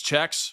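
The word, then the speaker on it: Czechs: Is it checkins or checks? God, I need a uh I need a lesson in uh how to say not only how to say the names, but how to properly say the country and the cultural references from uh from this country, man. So, it's checks.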